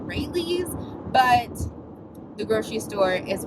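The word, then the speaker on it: Raley's: I feel like I always say it wrong. I think I say Rallies and it's called Rayleigh's, but the grocery store is really just the locale and obviously not the point.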